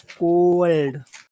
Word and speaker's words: cold: again Patu and and remember that cold has a very long vowel sound in it long in duration her demeanor was cold cold it's the O that gets the attention C you could give it to the L if you wanted to I I recommend the O cold C cold cold